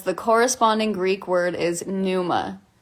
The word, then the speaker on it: pneuma: and it says the corresponding Greek word is pneuma like p-n-e-u-m-a and I think of pneumonia immediately uh so